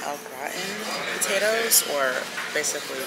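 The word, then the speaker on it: au gratin: um steak with um I believe it's pronounced out gratin potatoes or basically like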